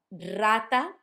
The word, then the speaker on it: rata: Rata. Rata sounds like a rolled R, a strong one, because it's at the start of the letter or of the word.